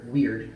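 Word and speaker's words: Wyrd: Sometimes there is a stirring, a shimmering movement, subtle but unmistakable, in the web called Weird, I think that's how you pronounce that, W-Y-R-D, that connects us all.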